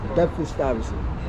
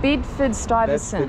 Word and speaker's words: Bedford-Stuyvesant: Can you pronounce it for me again? Bedford-Stuyvesant. Bedford-Stuyvesant.